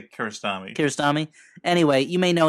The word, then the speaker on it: Kiarostami: Is that how it's pronounced? Like colonoscopy? What? Yeah. Kiarostami? I would say Kiarostami.